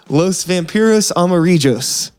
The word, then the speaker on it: Los Vampiros Amarillos: Los Vampiros Amarillos. Did I pronounce that right?